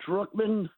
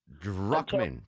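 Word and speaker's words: Drukman: let me tell you my last name druckmann d-r-u-k-m-a can you imagine drunk man every day i'm not drunk a drunk man drunk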